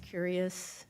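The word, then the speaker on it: Cureus: medical journey journal um it's pronounced curious c-u-r-e-u-s are you familiar with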